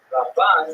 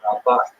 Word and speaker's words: Ramban: Rambam is pronounced with the emphasis on the first syllable, Rambam, and Ramban is pronounced with the emphasis on the second syllable, Rambam and Ramban.